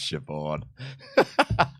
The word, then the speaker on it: Siobhan: It's an Irish name, but that's Siobhan. Siobhan is spelled S-H-I-V-O-N.